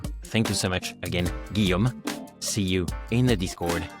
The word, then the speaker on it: Guillaume: Today, I wanted to thank Guillaume Berton. Yes, I can say the real pronunciation because Guillaume, too, is a French man.